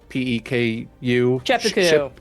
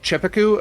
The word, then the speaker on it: Czepeku: I'm not 100% how to pronounce it. It's the CZEPEKU. Chepeku. Chepeku. Okay. I if it only was, know because it was in other ads where somebody else got paid to say it.